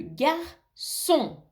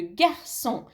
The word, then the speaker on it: garçon: Mais si le C a une cédille, un petit crochet en dessous, on le prononce S.